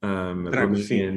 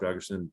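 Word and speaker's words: Drăgușin: and also Dragusin, I think is how you pronounce his name, Dragusin, yes.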